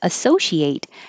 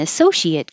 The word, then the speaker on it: associate: And if it's an adjective or a noun, the ate spelling stays the same, but the pronunciation changes to it with a vowel like I, hit.